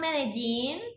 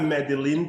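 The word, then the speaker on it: Medellín: salsa so i'm from medellin oh yeah i used to pronounce it but it's vegeta okay it looks like madeline to me yeah but we have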